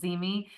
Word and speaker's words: ZeeMee: Cheryl brought up a program called Zeme, and unless you've seen the word, you might not realize how to spell it.